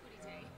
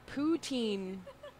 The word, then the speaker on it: poutine: I said putitang. Like Poutine. It's actually pronounced poutin because it's French.